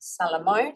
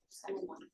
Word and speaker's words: Salomon: We have Ara Salamon. Is that correct? Salomon.